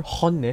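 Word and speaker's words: 本音: So honne, say it like the Spanish you are, honne.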